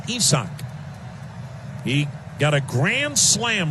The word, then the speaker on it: Isaac: You spell his first name like you would spell the name Isaac, but he is from Mexico and it is not pronounced Isaac. It is pronounced Esachch.